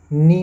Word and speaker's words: knee: Next है silent K और silent T, जैसे KNEE, इसे हम नी बोलते हैं, KNEW, इसे हम न्यू पढ़ते हैं, KNOCK, इसे हम नॉक कहते हैं, KNIFE, इसे हम नाइफ बोलते हैं।